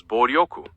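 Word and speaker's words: 暴力: In Japanese, the word violence is translated as boryoku, written with the characters... Ryoku? That what he said? Exacto. Esa es la pronunciación correcta.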